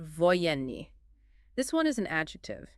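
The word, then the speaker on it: военный: And the third variation, the third is pronounced voyeni.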